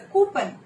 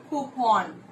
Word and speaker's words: coupon: Yeah, we tend to say it's a coupon, right? The actual pronunciation of this word is coupon.